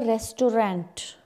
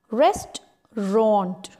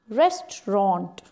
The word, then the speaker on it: restaurant: go to eat food it's not the restaurant no that's wrong we have to say restaurant restaurant there is chinese restaurant